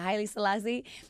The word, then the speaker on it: Haile Selassie: Yeah, Haile Selassie.